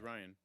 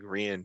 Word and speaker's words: Rian: Is that how you pronounce it? Yeah, it's just Ryan. Mark, you were saying something different yesterday. How do you say Uh, his name? I thought it was like Rian Johnson.